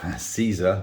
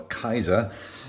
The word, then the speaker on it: Caesar: julius c c j caesar or kaiser uh depending on how you want to pronounce it uh deluxe edition fantastic